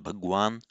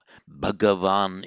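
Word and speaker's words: भगवान्: in s is bhagawan in modern Hindi pronounced ban Bagan bhagavan in Sanskrit it's what we have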